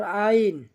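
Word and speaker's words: عين: এরপর আইন, আইন গলা চাপিয়ে ধরে আওয়াজ করতে হবে। তো আইন হলকের মধ্যখান হইতে গলা চেপে ধরে আইন, আইন, আইন।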